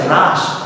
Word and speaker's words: হ্রাস: যে হ এর রকলা হ এর রকলা এটার উচ্চারণ কিন্তু র এর মত এটাকে আমরা অনেকে হ বলি তাই না যেমন অনেকে এটার উচ্চারণ কি করি হাঁস করে না এটা কিন্তু হাঁস না এটা হচ্ছে হ্রাস